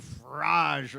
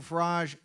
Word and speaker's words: Farage: even pronounce Briggs ooh they kept saying Nigel Farage or something right couldn't even pronounce it all these people